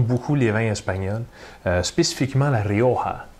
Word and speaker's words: Rioja: les rangs espagnols spécifiquement lario avec le gie mais qu'on prononce comme 1h lario à une région de